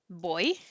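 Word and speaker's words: voy: will teach students about the word boy which sounds like boy in english which means i'm going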